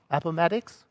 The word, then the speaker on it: Appomattox: Appomattox?